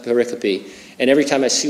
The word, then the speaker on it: pericope: scripture he calls them pericopes yeah they spelled pericope but I think it's spelled it's pronounced paropy and every time I